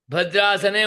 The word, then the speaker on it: भद्रासने: आया भद्रास उपो भद्रास भद्रासने उपवेश्या भद्रासने भकार तो महाप्राण है उच्चारण में अल्पप्राण सुनाई देता है भद्रासने उपवेश भद्रासने